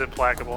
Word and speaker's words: implacable: I think it is implacable. I don't know what implacable means, but I've heard it before. Let's see. Unable to be placated. Okay, yeah, so it is a hard C.